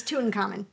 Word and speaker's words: Tutankhamun: Because you knew this word, Tutankhamun. I thought everybody knew how to pronounce that. Just call him King Tut. King Tut. It's Tutankhamun.